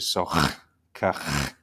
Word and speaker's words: SOHCAHTOA: teach you is that this H at the end is important to pronounce. So it's actually SOHCAHTOA.